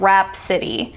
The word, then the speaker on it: rhapsody: We have the initial RH, as in rhyme, rhetoric, and rhapsody. So the H is silent. You don't need to sound out the H, but it is in the spelling.